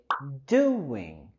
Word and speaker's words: doing: Y queremos subir la entonación en la primera sílaba de doing.